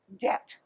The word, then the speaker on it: debt: Now, oh, I need to explain one word, debt. It's spelled D-E-B-T. We don't pronounce the B. A debt is like if you borrow money from somebody, you have a debt.